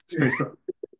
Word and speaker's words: SPSFC: But yes, so my wife's official pronunciation, which I will always hew to, is Spacebo.